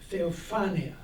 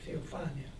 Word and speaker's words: Theophania: Theophania. The accent is on the A, Theophania.